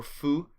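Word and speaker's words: fou: I was out there full or foo as it is now pronounced means crazy so he's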